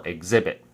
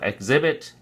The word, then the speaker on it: exhibit: it remains on the fir on the second syllable exhibit so exhibit exhibition so let me show you a couple